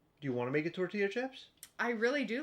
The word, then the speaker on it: tortilla: that's how you pronounce tortilla t o r t i l l a yes double double L's makes a y noise tortilla Double L makes a